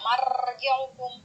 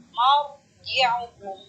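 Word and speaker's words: مرجعكم: Bacanya tidak marji'ukum, tapi marji'ukum. Di dalam melafazkan ra, ya, ra sukun didahului oleh huruf fathah.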